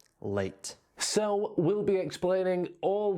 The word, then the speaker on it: leite: Já a palavra portuguesa lata escreve-se quase da mesma forma que leite, mas a pronúncia é diferente. Lata, leite.